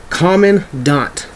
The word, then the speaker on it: Commandant: head of the US Marine Corps it is common D this is how you pronounce this guy's name the next one is